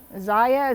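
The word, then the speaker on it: Zyia: of it what it is how do you pronounce that stuart ziya z-y-i-a active and i'll try to put a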